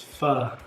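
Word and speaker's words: phở: If you're pho, we always say it wrong. We have been told the right way. It's pho.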